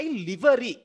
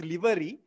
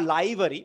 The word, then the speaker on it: livery: mice have eaten my Livery Livery means uniform some people will say liver no it's Livery or liary but Livery is the right pronunciation my uniform the mice